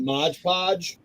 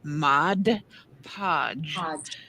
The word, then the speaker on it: Mod Podge: Now, if you dab a little bit of paint in a Mod Podge, when you go Now we just need to teach y'all how to say it. It's 2 words. Mod Podge.